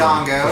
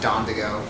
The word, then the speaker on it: Dodongo: the that's next a Dodongo. for fans of the Dynasty Warriors I used series. to, when I was a kid, I used to pronounce it Dondigo because I just couldn't read. There's also a two-player mode.